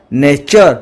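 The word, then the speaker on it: nature: টি আর রে টি পরে ইউ আর চলা নেচার অর্থ প্রকৃতি সূত্র যদি টি বর্ণ পরে এইচ বর্ণ আসে তেবে টি এর উচ্চারণ স্থল বিশেষে থ হব কিংবা দ হবো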